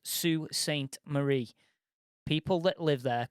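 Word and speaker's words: Sault Ste. Marie: canada and it's pr pronounced sue saint marie people that live there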